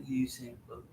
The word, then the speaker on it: Usain Bolt: Usain, I'm sorry, not Usain Bolt. Kind of like you say voodoo.